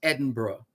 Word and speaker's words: Edinburgh: Edinburgh, but pronounced Edinburgh.